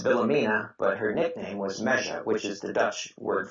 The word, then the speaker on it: Meisje: And how do you pronounce the name Meisje? This the Frisian woman. Meja. Meja.